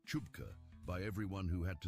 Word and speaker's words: CHBCA: The Committee for Human Biological Compatibility Assessment, or CHBCA, pronounced Chupka by everyone who had to say it more